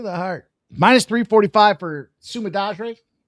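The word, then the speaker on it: Sumudaerji: I think Sumadarji. Yeah, that sounds about right. The JI comes out like a GH.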